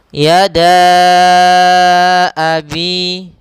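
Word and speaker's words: يدا: Maka cara membacanya adalah da-nya kita panjangkan 4 harokat, baru kita baca a-nya.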